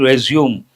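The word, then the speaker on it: résumé: One meaning, resume, to start again. But another word, actual pronunciation, a French word, resume, all about yourself in brief.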